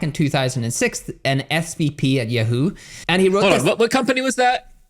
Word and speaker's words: Yahoo: - Yeah, so it's Yahoo for everybody watching. - What did I say? What did I say? - You say it like Yoohoo, which makes me really happy